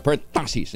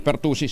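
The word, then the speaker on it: pertussis: Pilipino Maraming salamat Giselle per tasis palang pronunciation Ayan per tasis hindi perus per tasis Thank you Giselle Ah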